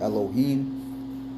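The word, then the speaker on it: אֱלֹהִים: That word God meaning Elohim or Allahayim. Right? That's the true way how to say it in the Hebrew.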